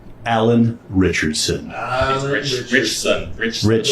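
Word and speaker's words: Ritchson: Richson. Richson. Rich son. It's a weird way to pronounce the last name, but yo, Richard Richson.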